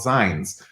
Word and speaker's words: zine: They're called Zines. And that's a way to pronounce it. It's fine. It's fine. No one's mad. But most people pronounce it zine, as in like the back half of magazine.